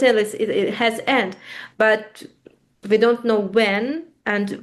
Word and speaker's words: but: Avoir un but. Avoir un but, avoir... But, B-U-T-E. B-U-T, but it's an exception. Usually we don't pronounce T in the end. Here there is an exception. We pronounce.